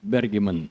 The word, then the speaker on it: Bergemann: É assim que pronuncia o teu sobrenome? Dário Bergman.